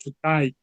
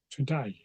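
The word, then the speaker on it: todæg: e g and it you might think oh that must be to but it was actually pronounced today today and if you know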